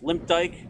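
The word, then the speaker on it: Limpdyke: rudy limp dick just because of the way his name is spelled it's you know m-l-i-m-p-d-y-k so it's limp dyke but most people call him limp dick and he has like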